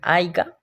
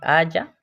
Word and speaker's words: haya: Algunos ejemplos que le podría dar es, por ejemplo, en mi familia muchos dicen haiga, entonces yo les tengo que corregir diciéndoles que no se dice así, que se dice haya.